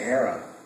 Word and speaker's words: Hera: Grace and I would say, we'd say Hera. But a lot of people on the show and a lot of fans would be like, they said it different. How do you say it? Yeah, they'd say Hera. Hera. Yeah. We're her parents. We might have messed it up, but that's how you say it.